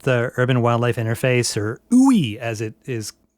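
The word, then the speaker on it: WUI: Just because you've you've brought up the urban wildlife interface or ooey as it is like pronunciation guide in the book.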